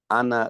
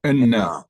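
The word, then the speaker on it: إنّا: correctly, it would say, Ana lillah and Ana ilayhi raji'un. Would that, the correct pronunciation be Ana or Inna? Inna. Okay. Inna.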